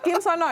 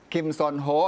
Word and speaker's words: Kim Seon Ho: Bacanya apa? Kim Sono ya? Kim Son Ho atau Sono gitu. Oh gitu ya, panggilannya Kim Son Ho atau Sono ya. Dan ini momen di mana Indra Herlambang berjumpa berfoto bersama dengan Kim Sono.